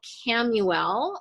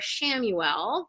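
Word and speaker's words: Chamuel: is peace this is Archangel cam ul or sham UL people pronounce it differently right and archangel sham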